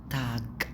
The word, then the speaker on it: Tag: طيب انما guten Tag، guten Tag، guten Tag، guten Tag، مش تاج لا تاج.